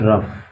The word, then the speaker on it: rough: कभी कभी GH से फ उच्चारण भी होता है, GH से कभी कभी फ उच्चारण होता है, जैसे कि ROUGH, इसको बोलते हैं रफ।